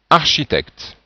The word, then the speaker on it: architecte: à prononcer par exemple comment est-ce que vous prononcez ce mot donc c'est architecte et on voit bien la transcription architecte bon nous n'avons pas vu encore les voyelles